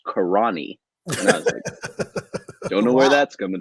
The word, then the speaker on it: Carinae: you know and after after some deep research into how the name might be pronounced i'm pretty sure it's karani don't know where that's